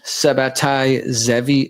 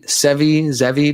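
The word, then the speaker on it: Sabbatai Zevi: know it's the guy the name comes from Sabati Zevi Sevi Zevi depending on how you pronounce it which is this book is about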